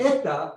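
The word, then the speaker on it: ἦτα: Epsilon es E corta y eta es E larga. ¿Qué significa eso? Cuando uno pronuncia, cuando aparece epsilon E corta es E Epsilon. y Epsilon. eta E larga. Eta.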